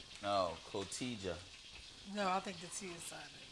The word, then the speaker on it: Cotija: Cojita. No, Cotija. No, I think the T is silent.